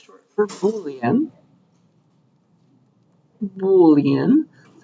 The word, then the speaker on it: Boolean: cute little type it's called it's short for Boolean boan that's how you say it and uh